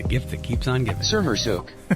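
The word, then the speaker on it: Sermersooq: That's how to pronounce Skirmiscoot? Sermersuk.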